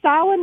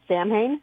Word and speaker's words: Samhain: called The Town of, I'm going to say Samhain, which is the correct pronunciation, but I can almost guarantee that they're pronouncing it Samhain.